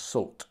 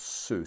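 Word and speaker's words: Soult: someone advised me that sue is pronounced salt not sue so apologies for that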